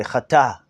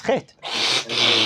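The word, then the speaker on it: חטא: the word chet, sin, you pronounce chet tet, right? Should we write it? Everybody. Let me write it. So we only say chet. Right. If you were to read that, if you didn't know the words, you would say chata, chete, or something like that. Chate, right? We only pronounce the chet and the tet.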